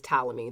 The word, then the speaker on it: Ptolemy: and his name is Ptolemy the the p is silent and he's this like